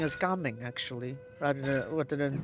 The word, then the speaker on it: Gaming: So in fact you should be pronouncing as gaming actually rather rather than jaming right because that that's a Mandarin pronunciation. This one's Cantonese, so gaming is the proper one.